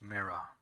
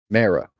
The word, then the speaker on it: Mara: What is it do you want with Mira? Mara. Yes. Like M-A-R-A? Mara? Doesn't matter how you spell it.